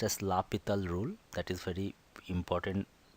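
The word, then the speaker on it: L'Hôpital: Though you can see it is written L hospital rules, but it is pronounced as L'Hopital rule.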